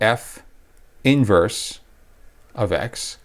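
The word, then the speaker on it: f⁻¹(x): is f of x its inverse is called f inverse of x that's how you pronounce it the way you write it is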